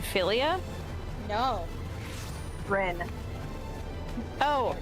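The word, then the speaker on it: Ryne: Rin. Oh, Reen.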